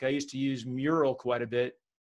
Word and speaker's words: Mural: Like I used to use Mural quite a bit. It sounds like Miro. It's spelled M-U-R-A-L.